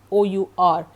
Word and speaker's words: hour: That is, in case of hour, it is OUR, and you pronounce it like hour, OUR, as you pronounce hour.